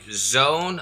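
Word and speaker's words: Xone: It is a Zone, I think that's how you say it, X-O-N-E, Zone, X-Zone, a Zone K2.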